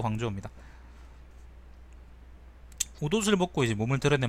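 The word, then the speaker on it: 广州: 발음은 광주가 광저우입니다.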